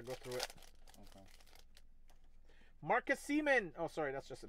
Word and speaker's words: Marcus Semien: Yeah, you said Semien. Oh, Semien.